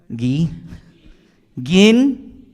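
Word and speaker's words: Guiguinto: you first to giginto you can pronounce it as a ghee repeat after me ghee gin so if the Americans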